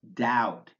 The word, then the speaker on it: doubt: pronounced take for example the consonant B which is silent in these words bomb bomber comb crumb debt doubt dumb lam plumber subtle